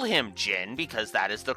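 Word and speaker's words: Jin: Jyn is still a bro, and I will not call him Zen. I will call him Jyn because that is the correct pronunciation.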